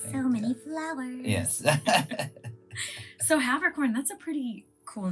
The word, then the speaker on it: Haberkorn: What are some of the mispronunciations? Always Haberkorn. Always. Haberkorn. But it's Haberkorn. Haberkorn or Okay. Haberkorn for the German, you know.